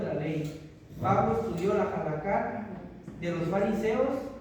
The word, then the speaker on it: Halaká: Y también lleva acento en la A. Sí, Halaká, porque si no diría Halaka. Halaká.